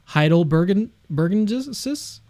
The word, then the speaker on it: heidelbergensis: I'm curious if you have any pushback on Homo heidelbergensis?